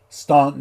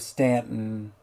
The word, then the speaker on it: Staunton: You can always tell when somebody's not from somewhere when they start saying words like Staunton instead of Stanton, Botetourt instead of Botetot,